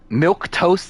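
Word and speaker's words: milquetoast: just the finale um milk toast not spelled like that it's ml or m-i-l-q-u-e-t-o-a-s-t yeah like people are bland yeah this is ask Street 4.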